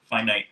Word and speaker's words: finite: definitive about being a find out story or finite series finite if you want to say it correctly um this volume did